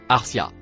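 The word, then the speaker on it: أرساها: dire le mot en bleu attaché au mot noir que vous connaissez déjà se prononce Arcia.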